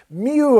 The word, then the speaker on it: Mieux: Mew, of course, the name of the sound that she would make, Mew. So, and it was spelled with kind of a French spelling.